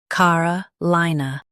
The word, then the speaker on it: Carolina: car uh li nuh Carolina Stress li in Carolina.